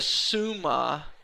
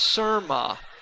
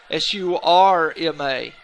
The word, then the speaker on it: Surma: And lane 5, Pavitra Suma from Tennessee High. I believe I pronounced her last name incorrectly. It's Surma, S-U-R-M-A, Surma.